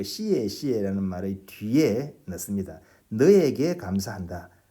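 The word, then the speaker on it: 谢谢: 시에 시에 리.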